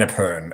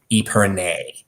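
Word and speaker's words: épergne: An Aperon. Okay. I've only ever called it an Aperon, and that's the French pronunciations. But I've heard, I guess, the American pronunciation is Epernay. Not even nier. It's just nay.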